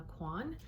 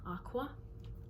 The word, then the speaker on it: Aucoin: His name is Kevyn Aucoin, or Aucoin. I believe that's how he pronounced it in one of his videos.